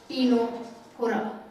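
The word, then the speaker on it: Ctenophora: Phylum टीनोफोरा, इसमें सी silent रहता है, टीनोफोरा।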